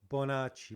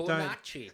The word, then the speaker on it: Bonacci: now look how do you say your surname bonach but bonach bonach but what we're going to you have